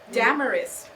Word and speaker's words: Damaris: Well, you know what glamorous rhymes with? Damaris.